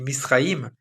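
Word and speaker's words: מצרים: Et l'Égypte en hébreu, il se dit Misraïm.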